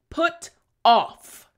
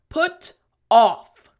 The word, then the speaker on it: put off: so pronunciation after me put off excellent front teeth bottom lip for the f sound last time put off good job now how